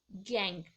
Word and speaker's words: gangue: Spelling है GANGUE, गैंग।